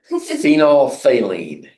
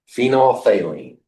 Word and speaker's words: Phenolphthalein: Can you pronounce the name? No. Phenolphthalein. Phenolphthalein.